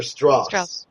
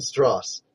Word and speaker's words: Strauss: man mira jane and lisa strauss or straw it's strauss because my friend has a name that's spelled exactly like that it's strauss well we don't know if it is so right now i'm going with strauss and stross so there versus blue